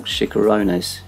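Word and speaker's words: chicharrones: on board the starter here was the pork chikoronas that's how you pronounce it which is pork belly with Puffs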